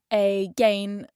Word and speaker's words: again: It no longer sounds like gain.